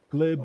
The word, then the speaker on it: Glib: my name is they call me glib glib the word glib like oh that's a l